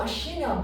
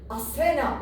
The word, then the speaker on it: Aşina: Dişi kurtta yeniden Türk boylarının dünyaya geldiğine inanıldığı için o aşina boyu dişi kurtla özdeşleştirilerek asena olarak yanlış telaffuzdan dolayı günümüze gelmiştir.